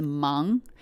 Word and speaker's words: 忙: Um so, I wanted to share this very simple word in Chinese and its pronunciation is mang m a n g mang and it's made